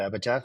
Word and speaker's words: Epitaph: A lot of people call it Epitaph, like a TH at the end instead of a PH.